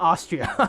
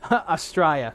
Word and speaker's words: Astraia: Oh, Astraia. I must have butchered that. Sorry. Not Austria. Austria. Astraia.